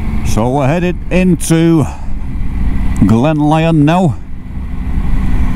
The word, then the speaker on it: Lyon: we're headed into glenn lyon now i think it's pronounced lyon not leon i have this every every year no one's ever put me right l y o n twisties for quarter